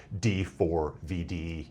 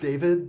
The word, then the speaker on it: D4vd: to this guy as D4 VD Anthony Burke. He he apparently goes by He says it is pronounced David, but D4VD is also an acceptable pronunciation.